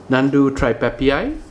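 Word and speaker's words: Nhandu tripepii: we have uh juvie nandu tripepii it's actually pronounced as nandu tripepi not nandu tripepi because of the extra eye at the back so let's try pepei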